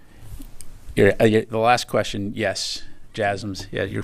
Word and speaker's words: JASSM: The last question, yes, JASSMs. Yeah, you're pronouncing it correctly.